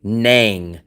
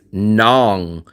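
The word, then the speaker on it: Nẵng: Nang rhymes with sang or rang, right? And I say it's nong that rhymes with hong or kong.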